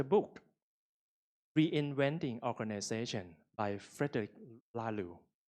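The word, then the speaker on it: Laloux: reinventing organization by Frederick lalu this is how to pronounce his name because French yep this book talking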